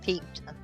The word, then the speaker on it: piqued: Piqued is peaked. Piqued their interest.